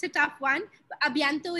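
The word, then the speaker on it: à bientôt: A bientôt is easy. You can always say a bientôt. A and bientôt.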